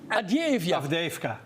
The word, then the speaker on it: Avdiivka: How do you pronounce this city? Avdiivka. Avdiivka.